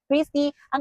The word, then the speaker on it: Christy Ng: And ngayon finally nandito na ang Chrisy. Ang kanyang spelling ay Chrisy Nang pero ang pronunciation niya is Chrisy Ang. Chrisy Ang parang Christi Ang pero lalagyan mo lang siya ng Chrisy Ong.